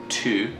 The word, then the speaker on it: tu: Remember, we learned our new pronoun which is you, and then it's pronounced tu in French.